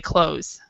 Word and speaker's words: clothes: in american english sorry in american english we do not pronounce the th so we just say close okay but it's close